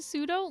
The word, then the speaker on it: pseudo: i always say colonel who out there is saying the p in pseudo lots of people why take the extra second to pronounce the p because you've only seen